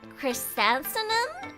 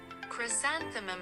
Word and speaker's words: chrysanthemum: Actually it ah it's a chrysanum and wait cryansenum and phony I can't pronounce wait I I can't pronounce chrysanthemum and pony yukarta pion whatever